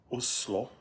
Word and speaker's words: Oslo: you guys are from I'm in Oslo or the way the locals say Oslo we just landed here